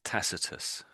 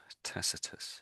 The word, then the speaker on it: Tacitus: So this we say this as Tacitus. Tacitus in English.